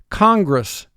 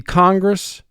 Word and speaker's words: congress: double the f lrs congress congress the congress will meet again soon congress this is a two-syllable word the first syllable is kong mark the word